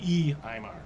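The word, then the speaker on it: Uí Ímair: the Aimar, or the E-Aimar. So it's the U-I, just like the Enil. This is the E-Aimar.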